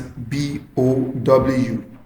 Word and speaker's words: bow: Bow, written as B-O-W. It can be pronounced as bow when you mean to bend at the waist.